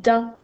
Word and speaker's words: dent: Alors, premier mot, on a une dent. Ça s'écrit D-E-N-T. Alors, un petit truc pour te rappeler qu'il y a un T muet à la fin du mot dent.